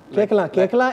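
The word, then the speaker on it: Koechlin: केकला इन Tamil is पूछूं, इन तमिल, हाँ, अच्छा, केकला। एंड कल्की knows Tamil also, so केकला।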